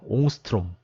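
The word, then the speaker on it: Ångström: 스웨덴이나 어떻게 읽냐면 네, 옹스트롬이라고 읽습니다. 옹스트롬. 뭐 어떤 책은 옹스트롱이라고 되어 있는데 대부분은 옹스트롬이라고 있습니다.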